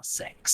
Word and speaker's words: Seox: think it's i think it's pronounced six yeah six no it's sex sex yeah the o is so six has been